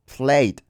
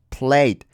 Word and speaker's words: played: La e esta, o sea, se escribe, pero casi no se pronuncia, es casi muda. Entonces es played. Algunas personas como que sí pronuncian un poquito la e, otras se la comen completamente. Bueno, da igual. Es prácticamente muda la e.